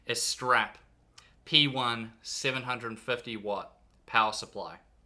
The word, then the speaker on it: Astrape: doing unboxings of the game Diaz strap hair no I think it's just pronounced is strap p1 750 watt power